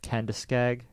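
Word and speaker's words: Kenduskeag: Police arrived, and before they could speak to him, he fled on foot, ran out into the ice of the Kendiskeg.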